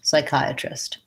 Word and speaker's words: psychiatrist: And we have the diphthong I, chi, psychi. So these two vowels, the I, those are both the same I diphthong as in I am or my I. So psychi, this A says and then at the end I have trist with the lax I vowel, trist, psychiatrist.